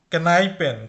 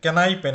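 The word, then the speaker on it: Kneipen: তারপর নাইপেন, কেনাইপেন, কেনাইপেন এটার উচ্চারণ কিন্তু নাইপেন না, এটা কে এর উচ্চারণ করতে হবে।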